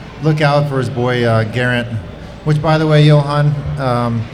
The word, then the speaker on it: Geraint: At least look out for his boy Geraint. Which, by the way, Johan, since you've been kind of correcting my pronunciations, it's Geraint with a G, not with a J. It's not Geraint.